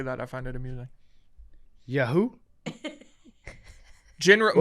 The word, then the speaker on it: Yahoo: I find it amusing yeahoo General most most people put the emphasis on the first syllable Yahoo Yahoo but I like